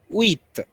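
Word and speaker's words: huit: okay like that yeah number eight is pronounced as wheat wheat wheat number nine is pronounced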